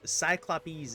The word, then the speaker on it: Cyclopes: Cyclopes is what we learned last time, is how to pronounce it.